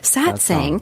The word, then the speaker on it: satsang: song every sat saying i keep saying that satsang that's right it is song you said it right gosh okay there you